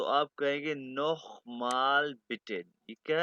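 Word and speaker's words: Name: सबसे पहले हम बताएंगे नेम नेम को हम क्या पेंगे प्रोनाउंस करेंगे नामे नामे ठीक है जर्मन व लैंग्वेज में हर अल्फाबेट को प्रोनाउंस करते हैं अल्फाबेट्स में आपका अभी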